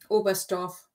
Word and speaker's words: Oberstdorf: a small point here the t is silent isn't it all best off yeah so the the